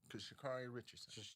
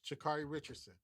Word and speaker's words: Sha'Carri Richardson: pronounce her. Sha'Carri Richardson. Sha'Carri Richardson.